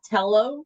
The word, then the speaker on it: Tello: It's Miss Tello. Oh, I'm sorry. That's I okay. keep putting an R in front of it.